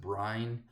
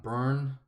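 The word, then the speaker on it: Byrne: talked about artist John I think I pronounce it Brian I was corrected it's John burn so thank you for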